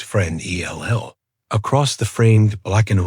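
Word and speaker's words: Fresnel: It slid over the placard about Augugustine Jang Frenel, pronounced friend E L, across the framed black and white of the keeper in his peacacoat over the door then around again.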